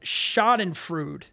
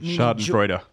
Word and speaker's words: Schadenfreude: It's called Schadenfreude. Schaden meaning damage or harm, and Freud or Freud. Maybe Schadenfreude is how you say it. Schadenfreude.